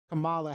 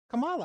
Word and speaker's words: Kamala: was talking about when um he's talking about kamala harris and he was saying you know it's a thing of nightmares you know you know liz is big on pronunciation kamala i said it right oh kamala i said